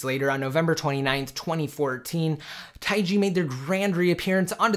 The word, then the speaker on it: TaiG: just two letters xn and it is called taii that's the official pronunciation for it and again it was able